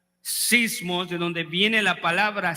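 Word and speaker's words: σεισμός: la posibilidad de hundirse la palabra Tormenta en el original en griego se pronuncia sismos de donde viene la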